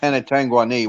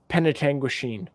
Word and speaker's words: Penetanguishene: I'm mispronouncing it, ain't I? I'm calling it Penetanguani. What are you calling it? Penetanguishene. Penetanguishene. Okay.